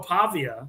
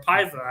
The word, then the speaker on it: Pavia: I believe that is Diego Pavia, or Paiva, however you want to pronounce his last name.